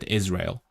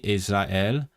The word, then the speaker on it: Israel: because you have well, in English you spell it with an S, but you pronounce it with a Z, Israel. And then in other languages you pronounce the A and E differently, Israel. And then in some languages like Polish, the S actually becomes the Z, Israel. But that's it.